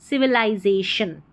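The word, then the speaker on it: civilization: सिविलाइजेशन में ये जो एल आई है ना इसको आई पढ़ना है। ये जो आई आ रहा है ना एल आई इस पूरे को लाई और आई को आई पढ़ना है सिविलाइजेशन में।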